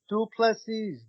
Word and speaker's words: du Plessis: He was like, "For everyone who is wondering, it is pronounced du Plessis."